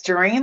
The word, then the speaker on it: Gereen: Gereen, right? That's Gereen like tangerine.